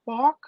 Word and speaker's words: BAWK: It's you say it balk, but it's pronounced balk.